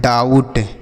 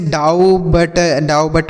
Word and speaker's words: doubt: डाउट। क्या पढ़ते हैं? डाउट। यहाँ पर बच्चों बी साइलेंट है, मतलब इसको नहीं पढ़ा जाएगा। इसे डाउ बट ऐसे नहीं पढ़ेंगे, डाउट पढ़ेंगे।